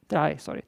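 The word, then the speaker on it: trie: Try is proper pronunciation.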